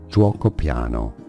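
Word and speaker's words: Giuoco Piano: it said okay so you have a j sound but quite a short u sound and then o go all in the same syllable drao piano is how the Italians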